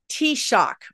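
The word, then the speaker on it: Taoiseach: McDonald be Ireland's first female t-shock which is the prime minister thank you so much for giving me the pronunciation of that because I never would have thought that word was t-shock so thank you for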